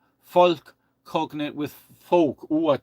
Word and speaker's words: Volk: I mean, okay, I'm pronouncing it as German, but the v in German, it's a f in English, folk, and but it's not,